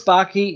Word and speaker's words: Backe: So I'm Backe. It rhymes with hockey.